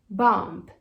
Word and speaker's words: bomb: E aí muita gente pronuncia bomb, bomb, mas não tem esse B no final.